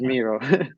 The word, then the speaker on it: Miro: jira but this is miro the way to remember it is pronounced similar to hero ah it's pronounced similar